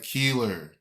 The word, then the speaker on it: Keilar: there but think about her name is brianna keeler that's how i pronounce it that's how the killer